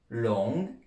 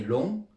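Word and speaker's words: 龙: prononciation alors sa prononciation longue long vous voyez que ça fait penser à à long déjà ça s'écrit comme le mot être long et on prononce un peu le G long ça veut dire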